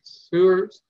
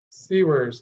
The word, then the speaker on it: Siewers: host beyond booyah I have with me sewers pronounce the last name sewers of sours serves no it's like the CC worse C words okay which is perfect because you've written books